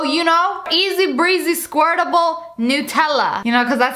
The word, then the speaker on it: Nutella: Nutella jar so you know easy breezy squirtable Nutella you know cuz that's how you really say